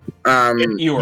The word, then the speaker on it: ewer: Apparently it's pronounced Ewer. Ewer. Ewer. Ewer, yeah.